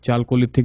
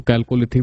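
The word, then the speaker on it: Chalcolithic: और उसके बाद जो है आपका चालकोलिथिक या फिर इसको कैलकोलिथिक भी कहीं कहीं लिखा मिलता है, अपना अपना उच्चारण है। कुछ लोग उसको चालकोलिथिक कहते हैं, कुछ लोग अपना उसको कैलकोलिथिक कहते हैं।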